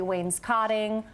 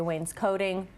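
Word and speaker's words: wainscoting: either one really yep on the east coast it's typically wayne's cotting again the further west you go they typically say wayne's coding both are completely acceptable okay sometimes people get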